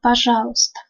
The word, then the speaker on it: пожалуйста: Помогите мне, пожалуйста. Помогите мне, пожалуйста. On ne prononce pas и court.